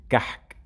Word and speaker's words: كعك: And the next word was كعك. كعك, which means a cake. مصري, they pronounce it كحك.